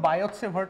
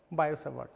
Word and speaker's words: Biot: fast so fine so there is something called biot law so I don't know the actual pronunciation he was a France France guy he